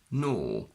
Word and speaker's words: gnaw: For example, GN in initial position, where the G is completely silent. Gnome, gnaw, gnash.